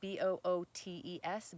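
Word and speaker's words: Boötes: it means the coming like it's spelled like booties b-o-o-t-e-s bootes and it means the coming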